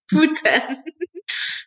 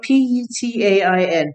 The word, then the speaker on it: putain: Putain. It's spelled P-U-T-A-I-N. Putain. Yeah, you have to use the P-U-U-U-U in French. Putain.